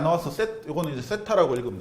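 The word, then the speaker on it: θ: 각이 안 나와서 이거는 이제 세타라고 읽으면 돼, 세타.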